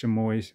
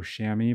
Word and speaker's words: chamois: looks like it's pronounced to moist but uh it's you know like chamois like the chamois cloth that you use to dry your car if you're washing it